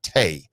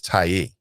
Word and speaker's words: Taiye: his last name correctly it's not tay i believe it's taiye uh anthony writes my